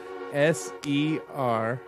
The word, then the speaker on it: Serengeti: Serengiti. Nope. Serengeti. Serengeti. Spelled like it sounds.